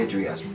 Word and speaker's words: Idria: two natives up here we say idris that's correct pronunciation it's amazing how